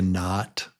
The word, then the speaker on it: knot: Yeah, you tie a knot. Not. The K is silent.